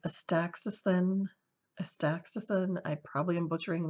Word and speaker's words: astaxanthin: I think it's pronounced astaxanthin.